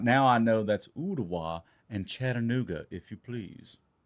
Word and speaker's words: Ooltewah: And I got roasted in the comments over the way I pronounced Ooltewah and Chattanooga. All right, now I know that's Ooltewah and Chattanooga, if you please.